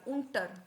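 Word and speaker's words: unter: उट अब ये देखिए यू एंड टी ई आर उंटर इसको हम उ बोलेंगे ठीक है जैसे कि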